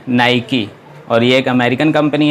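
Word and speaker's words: Nike: Mi के ही ए recently लोग प्रणाम्स करते हैं नाईक लेकिन उसका सही प्रनंसीएशन है ना ही की और यह अमेरिकन कंपनी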